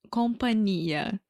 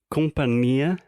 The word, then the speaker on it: companhia: na minha humilde opinião, companhia aérea deve ser companhia, porque tem, na verdade, nh. Então o companhia que a gente tá falando em questão se escreve C M de Maria P a N I e a né? Então esse NH no meio deveria ser companhia.